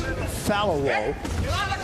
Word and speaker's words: Falowo: It is pronounced Falowo. It's Nigerian.